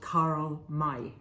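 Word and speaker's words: Karl May: of an author called Carl Mai so Carl May it's spelled m-a-y and uh and he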